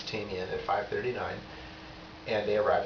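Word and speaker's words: Tamien: Caltrain's supposed to arrive at Tamian, which they pronounce Tamian, at 5:39, and they arrive at 5:44 every day.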